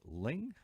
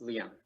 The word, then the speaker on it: Liang: John Paul, and do I say Ling? Yes, Liang. Liang, okay.